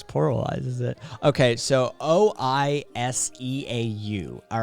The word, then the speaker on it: oiseau: It's oiseau. It's O-I-S-E-A-U, and none of those letters pronounces the way it should.